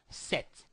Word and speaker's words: cette: You will need to use set, C-E-T-T-E, set.